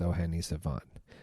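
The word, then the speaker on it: O'hene Savànt: That was O'Hene Savant, his latest album, pronounced O'Hene Savant.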